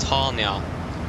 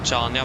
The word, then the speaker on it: Chania: It is pronounced Hania. You don't. The C is dumb basically. You don't pronounce the C. So if I heard correctly, it is Hania, not Chania, but Hania.